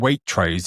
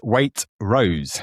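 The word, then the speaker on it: Waitrose: definitely one of these people, we have been pronouncing Waitros incorrectly for hundreds of years. So, Food Bible recently wrote this week that it's not pronounced Waitros at all. It's weight rose.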